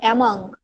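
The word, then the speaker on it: among: পারে, আনলিমিটেড, তখন হবে অ্যামং। এটা অনেকে অ্যামং বলে, এটার আসলে উচ্চারণ হবে অ্যামাং, অর্থাৎ মধ্যে।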